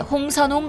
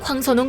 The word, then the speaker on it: 황선홍: 황선홍 감독이 9대0 대승을 기록하고 기자회견에 참석하자 진행자는 돌연 다음은 대한민국의 홍선홍 감독이라며 발음 실수를 저질렀습니다.